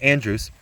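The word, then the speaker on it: Andros: american colonies for example in boston sir edmund andrews that's how that's pronounced andrews is uh he's overthrown he was hated they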